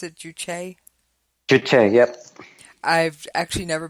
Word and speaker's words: juche: I've read the term juche. I believe that's how you pronounce it, juche.